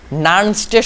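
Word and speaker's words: Nernst: নার্নস্টের সমীকরণ অর্থাৎ নার্নস্ট, উচ্চারণটা নার্নস্ট হয় আর কি, লিখতেছি তবু আমি এটা লেখা দরকার।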